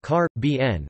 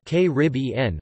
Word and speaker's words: Caribbean: outside the Caribbean are car BN with the primary stress on the third syllable and K rib en with the stress on